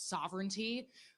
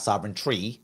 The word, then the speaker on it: sovereignty: attack on New York's sovereignty uh is this marking a new era now she just pronounced it correctly sovereignty not sovereign tree but that's okay of